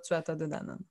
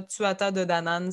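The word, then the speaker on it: Tuatha Dé Danann: Je sais que je le prononce pas comme il faut parce qu'il faut pas. Tuatha de Danann. Tu peux dire Tuatha de Danann. Faut vraiment pas prononcer la moitié des lettres dans ce. Non, mais si tu le prononces à la française, francophone, là, Tuatha de Danann, ça marche.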